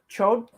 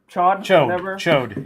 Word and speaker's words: Chode: You're talking about Chode? Chode. Yeah. Chode. Yep. Or Chod. Like I always said Chod. I only call him Chode because that's how they say it on the cartoon.